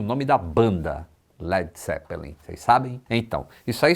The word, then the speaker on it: Led Zeppelin: que em inglês seria Led Zeppelin. A banda gostou tanto da imagem que fizeram na cabeça que adotou o nome, apenas retirou o A de lead, para não ser pronunciado como leader, e ainda assim usou